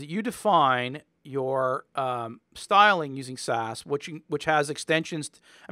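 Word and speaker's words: SCSS: is this CSC SS which is pronounced SAS even though it's not spelled SAS but basically this is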